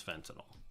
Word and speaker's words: fentanyl: everybody hears in the news fentanyl some people pronounce that Fenton now fentanyl it's it's fentanyl however the hell you want to say it